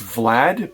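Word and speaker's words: Wlad: or Russian guy named, it's Vlad, but it's spelt with a W, Vlad.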